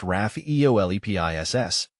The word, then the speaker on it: Rhaphiolepis: Rhaphiolepis, pronounced Rhaphiolepis, is native to warm temperate and subtropical regions of East and Southeast Asia.